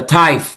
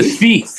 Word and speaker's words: Thief: the new song called the Tithe, I think, the Tithe. Is correct the pronunciation, the Tithe? You're thinking of the Thief.